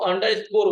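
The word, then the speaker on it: underscore: इसको अंडर स्कोर बोला जाता है।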